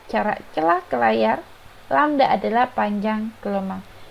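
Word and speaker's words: lambda: lamda jangan lupa ya ini dibacanya lamda panjang gelombang atau bisa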